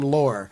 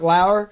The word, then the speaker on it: Lauer: i don't know why i always want to say his name lore uh mark Lauer have another friend named